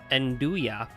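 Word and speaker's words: 'nduja: pronounced enduya is a spicy sea spreadable pork salami from the calabra region of Italy.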